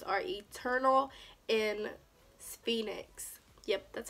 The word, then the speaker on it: Phoenix: here, and those shade names are Eternal and Phoenix. Yep, that's how you say it. Phoenix.